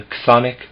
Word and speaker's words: chthonic: This was observed and studied in the very deepest sense in the chthonic mysteries in ancient Greece. Chthonic is spelled CHTHONIC, chthonic.